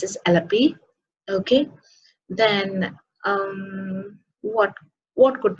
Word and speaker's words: Alleppey: no it's Trivandrum okay alle pure it is pronounced is alleppey okay then what what could be the I